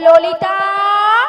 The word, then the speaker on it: ললিতা: হবে জানো হ্যাঁ আর তুমি ঠিকঠাক উচ্চারণ করো একদম বলো ললিতা ললিতা ললিতা বাহি